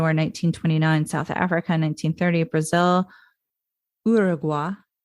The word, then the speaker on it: Uruguay: Burma, 1922, Ecuador, 1929, South Africa, 1930, Brazil, Uruguay. That's how Americans pronounce it, but it was Uruguay. I am also American, so I call it Uruguay.